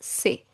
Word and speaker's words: c'est: See apostrophe est is pronounced as say.